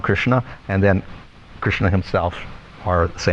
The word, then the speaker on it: Krishna: So interestingly enough, if we just take the meaning of Krishna, it's actually 2 syllables, Krishna.